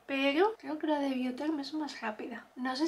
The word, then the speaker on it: Biotherm: Yo creo que el de Biotherm, yo decía Bioderm, pero hace poco en un anuncio vi que se llama Biotherm con T, o sea, pronunciado con T, quiero decir.